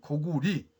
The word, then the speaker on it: 高句麗: 그래서 저는 오늘 주몽의 나라 이름은 고구리, 왕건의 나라는 고리로, 그리고 그것은 우리가 할머니의 할머니에서